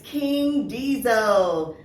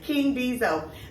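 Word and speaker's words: King Deezo: His name is King Diesel. All right, did I pronounce that right? Yeah. Okay, King Diesel.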